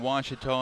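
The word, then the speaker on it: Wayland: for was Baptist University back in Texas everybody pronounces it witch but really it's was was how would you pronounce it was was it's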